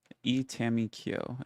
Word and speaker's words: Itamikyo: Itamikyo is how you pronounce it.